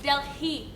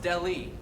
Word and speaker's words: Delhi: It's Delhi Diamond, not Delhi. Polly, the H is actually silent. It is pronounced Delhi, not Delhi.